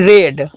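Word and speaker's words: read: ये नॉट है तो नॉट लिख देंगे क्योंकि निगेटिव है, और रीडिंग है इसका क्या हो जाएगा, वर्ब 3 रेड, स्पेलिंग वही होगा लेकिन पढ़ेंगे रेड, अर्थात ए novel is नॉट रेड bye Rupa.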